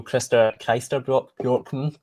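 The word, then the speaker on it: Christer Björkman: There's there's the producer of the show, one of the producers of the show, Chris Chester Borkman, that's how you say his name.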